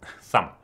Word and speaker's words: thumb: of thumb went to thumb the B is silent like in D Jango